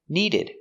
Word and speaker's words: needed: go needed to go use a stop d needed we don't say